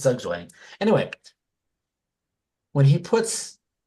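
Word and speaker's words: Zugzwang: Doug Wang think Z it shouldn't be Zug Wang that doesn't sound right I don't think it's Zug Wang it's spelled Zug wayang SW moving chest I guess it's got to be yeah I guess it's Z waying anyway when he puts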